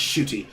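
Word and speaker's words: Ncuti: Unless you're Nachuti Gatwa. I think it's pronounced Shooty. It's pronounced Shooty, but I want to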